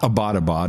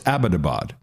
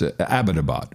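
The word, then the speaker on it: Abbottabad: through a long conversation about this it's not abadabad it's abadabad that is the correct pronunciation if you of course I don't think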